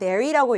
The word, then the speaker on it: marry: 근데 재밌는 건 제가 교실에서 요 단어 읽어보라고 시키면 거의 10명 중에 9명은 불이라고 읽어요. 불이. 불이는 이게 새 불이고요. 얘는 marry라고 읽으셔야 되는 거예요.